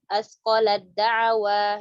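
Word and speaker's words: أَثْقَلَت دَّعَوَا: Tak ketemu sama dal, asqalad da'wa ya. Nih kita jelaskan cepat saja, jadi dibacanya asqalad. Nah, kalau di buku Taisir Rahman dituliskan gimana cara ngucapinnya. Asqalad da'wa langsung huruf dal.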